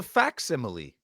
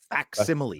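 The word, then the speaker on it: facsimile: I thought it was called a faximile. That's what I call it. It's f It's fs. So this whole time I've been saying it wrong. It's faximile.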